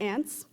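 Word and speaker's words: Anse: stand up for innocent ants but allow me to explain ADI Daryl cash Jewel Dewey Dell vardaman and by far the best character in the book A and S E pronounced ants now I'm sure you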